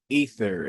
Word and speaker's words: Aether: Ether in Greek mythology, ether. Aether is pronounced ether is personification of the bright upper sky.